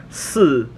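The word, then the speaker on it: 四: Four is pronounced si, and death is pronounced si.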